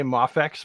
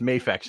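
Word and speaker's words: MAFEX: mafx whatever but yeah remember the E makes the a say its name people will say mafax but it should be pronounced mayfax in English it's confusing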